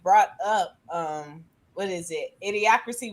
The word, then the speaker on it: Idiocracy: Idiocracy, wasn't that how it's pronounced? Yeah.